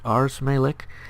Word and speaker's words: Ars Malik: That's how he told me to pronounce it, Ars Malik.